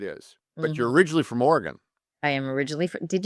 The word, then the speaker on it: Oregon: In Wisconsin, we have an Oregon, which is just outside of Madison, and it's Oregon. Do you spell it like Oregon? Exactly the same way, but it's got that Midwest pronunciation with long vowels, don't you know?